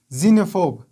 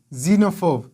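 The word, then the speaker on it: xenophobe: خپل آواز ورکوي، او هر کله چې د جملې په سر کې استفاده شي په هغه وخت کې ډیری وخت زاید تلفظ کیږي، لکه زایلوګراف، زایلوګراف، زینوفیل، زینوفیل، زینوفوب، زینوفوب، زینوفوب، اگزام، اگزام، اگزامپل، example.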